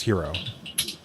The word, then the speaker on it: gyro: term for a hoagie or sub okay well gyro is not pronounced gyro anyway it's hero hero yeah gyro or hero okay it's not